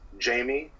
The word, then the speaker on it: Djamie: My Instagram is Jamie, so spelled DJAMIE __. Okay. So the name comes from, you ever seen the movie Django Unchained? Yeah. The D is silent.